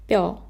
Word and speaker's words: 뼈: This is 뼈, double consonant, p and 여, 뼈.